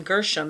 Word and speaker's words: Gershom: And the word sounds like ger, which is there, and sham.